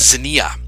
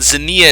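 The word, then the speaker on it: xenia: you pronounce this as zenia and zania it's a greek word it's usually translated as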